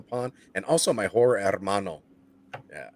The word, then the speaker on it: hermano: and also my horror hermano yeah you got to roll your r's when you say armano otherwise if you got my